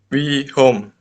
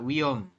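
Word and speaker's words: 위험: ini nih Mas Febri masih wihom ya wiom h-nya tidak dibaca wiom wiom hm wiom ya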